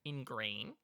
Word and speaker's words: Ingrain: uh williard harrison fitzgerald in grain that's a long name williard harrison fitzgerald fitzgerald ingrain green ingrain how do you spell that i and you like the word grain it's a pleasure